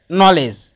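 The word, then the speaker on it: knowledge: না, যেমন জাজ এবং নলেজ। এখানে ডি এর পরে জি এসেছে দুই শব্দের মধ্যেই, যার কারণে ডি এর উচ্চারণ হবে না, শুধু জাজ এবং নলেজ উচ্চারিত হবে, ডি বাদ পড়ে যাবে।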